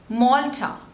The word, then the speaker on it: Malta: Maldives next is Malta Malta again two labels and stresses on the first one Malta Malta Malta next